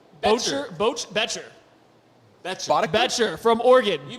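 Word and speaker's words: Boettcher: The Indianapolis Colts have selected Bryce Bocher. Bocher Bcher from Oregon. You bet your butt. That's how you pronounce it.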